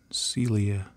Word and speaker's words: Coelia: some Celia green shade to me it looks like coelia but I heard somebody who is smarter about these things than me pronounce it Celia green shade so I'll go with that I'll shade this down and